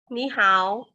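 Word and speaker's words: 你好: Ni hao. Ya, ni hao gitu ya. Ni-nya berubah Ni jadi hao. dua ya.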